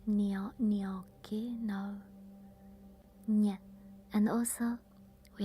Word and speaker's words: gnocchi: And then probably the hardest is the nya sound, gnocchi. It's not gnocchi, no, nya.